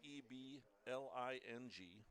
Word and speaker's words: Eling: Colby Eling is spelled E L I N G, pronounced Eling. Right-handed.